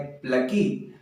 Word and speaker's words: plucky: इसका प्रोनाउंसिएशन है प्लकी।